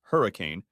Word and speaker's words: Henry Can: To top it off, the Moody Center was hosting a Florida-Georgia Line concert, and Henry Can, pronounced Hurricane, had 2 front-row tickets to the show for him and his wife Melanie.